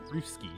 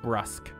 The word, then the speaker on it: brusque: Bruski. Brus. Bruce. It means abrupt or offhand in speech and manner. And it's brusque. It means or it's pronounced brusque.